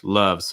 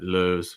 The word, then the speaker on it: loves: but i'm here more i would like this to be more loves love so it's not lose loves i think the placement's